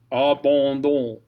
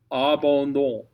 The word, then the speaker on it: abandon: ON is basically the same thing, but instead of saying ah, you're going to say oh, oh, oh, mm. So the very first word in this actually uses both. And what's nice is the D helps get you into the O vowel.